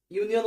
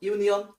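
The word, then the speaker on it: union: ইউনিয়ন উচ্চারণ করো, ইউনিয়ন ইউ এর মতো উচ্চারণ, শুরুটা ইউ এর মতো, সো এখানে হবে এ ইউনিয়ন।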